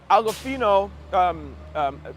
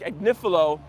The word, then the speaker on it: Agnifilo: Mark Agofino, sorry, I always pronounce his name wrong. Mark Agnifilo, he walks in and he grabs the mic